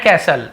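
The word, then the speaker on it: castle: हिज यानी अपना सै कैसल यहां पे कस्टल नहीं बोलूंगा टी साइलेंट होता है सैंड कैसल रेत का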